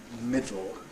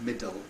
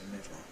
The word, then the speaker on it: middle: Okay, if you say middle, that's syllabic L, which is different from middle, putting a schwa in. Although occasionally you'll hear that pronunciation, we like you to say middle.